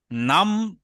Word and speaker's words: নাম: যেহেতু হর চিহ্ন নেই তাইলে আমরা নাম না বলে নামা বলব। নামা নামা।